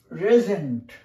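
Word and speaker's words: resent: রিসেন্ড মানে আবার পাঠানো, কিন্তু এটা আমি বলতে চাই না, এটা বলতে চাই রেজেন্ট। উচ্চারণটা হয় রেজেন্ট, জয় শূন্য উচ্চারণ হয়।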